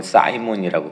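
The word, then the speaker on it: Simon: 그 밖에도 이름 바뀐 사람들은 많지만 시몬, 그러니까 영어로는 사이몬이라고 발음하죠.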